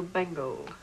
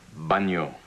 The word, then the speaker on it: bagno: Dove il bengo? Bagno. It says bengo. There's a G in there. The G is silent.